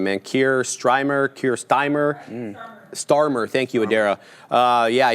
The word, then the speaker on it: Starmer: Um uh he did obviously uh entertain Kier Kier Stryimer. I don't know how to say his name, man. Kier Stryimemer. Kier Stymer. Starmer.